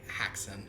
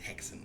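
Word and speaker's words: Häxan: post a lick about haxon ha hexon if you want to um I don't fully know the um the exact Swedish pronunciation but I'm pretty sure it's hexen like that um well that was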